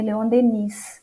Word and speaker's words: Léon Denis: Leon Denis, apesar de escrever Leon Denis, mas a pronúncia correta é Leon Denis.